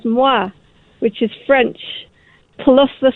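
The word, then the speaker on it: moi: is because he says mwah, which is French, plus the sound of a kiss. Yes. Is that the right answer? Well, it's the fact that it's mwa and it rhymes with la.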